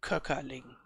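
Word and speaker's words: Kockerling: the vector 800 and cockerling is the way how to pronounce announce this Enterprise I guess it maybe is a drum because it sounds very German it it's a German word you would say Kaka Ling it costs 68 500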